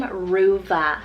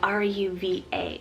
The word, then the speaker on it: Ruva: So this is the name Ruva, spelled R-U-V-A, Ruva.